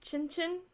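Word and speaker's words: cin cin: being punked but it's supposed to be pronounced Chinchin is the informal like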